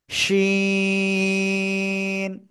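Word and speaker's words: شين: করে উচ্চারণ করতে হবে জিহ্বার মধ্যখান উপরের তালুর সাথে লাগাবেন এক দুই তিন তিন আলিফ টানে উচ্চারণ করবেন শিন ঠিক আছে শিন সবাই জোরে জোরে বলেন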